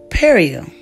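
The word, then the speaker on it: perejil: know Spanish form and this Spanish form was pronounced perio now this was a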